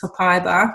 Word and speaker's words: copaiba: is, I'm going to talk about, which is copaiba, which is exciting. There you go. There's the pronunciation.